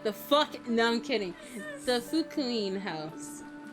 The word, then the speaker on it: Fukuin: She had been brought up in an orphanage owned by Kinzo, called the Fukuin? I don't know how to pronounce that. The fuck it no. It's Fukuin.